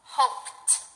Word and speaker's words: hoped: the p p sound we know that the P sound is voiceless so when you see a verb for example hope try that hope when we put it in the past tense it becomes hoped hoped okay now think about